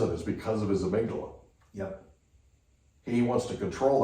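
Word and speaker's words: amygdala: the minute that that amydala amigdala yeah saying sorry I've been saying it wrong all these years but the day the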